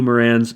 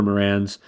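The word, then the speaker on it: Marans: We have possible cuckoo Morans, French black copper Morans. I've actually learned that you always pronounce the S at the end of Morans because it's a region in France. It's the Morans region or something like that.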